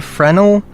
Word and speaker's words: Fresnel: Apparently it's called the Fresnel, but it's spelled Fresnel, which, like, I don't